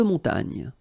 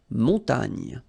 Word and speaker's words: montagne: So remember here, O-N, on, mon, ta, and then this G-N-E, ny, montagne.